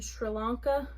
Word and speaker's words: Sri Lanka: Takes place in Sri Lanka, that's how you say it.